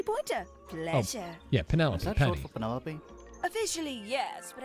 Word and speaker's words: Penelope: pleasure yeah Penelope for Penelope officially yes but I never can be bothered with all four syllables of it Penelope sounds a little